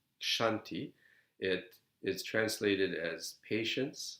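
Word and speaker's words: Kshanti: Shanti KS I added the age because it's pronounced Shanti it is translated as patience sometimes tolerance so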